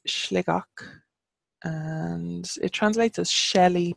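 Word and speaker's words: Sligeach: we have Sligo that's like oh and it's slick och and it translates as Shelly place not sure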